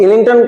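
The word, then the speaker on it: Islington: अब इलिंगटन कमीशन आपसे पूछा जाएगा। तो इनका नाम है। ये ऐसा स्पेलिंग है। आई एस एल आई एन जी टी ओ एन इलिंगटन commission बोलते हैं।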